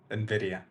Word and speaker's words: Nvidia: price looks too high is it Nvidia or Nidia Nvidia Nvidia okay thank you yeah uh